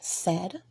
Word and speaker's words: said: So let's do a recap of part 3, words with silent letters. Today we learned about words such as said with the I being silent, again with the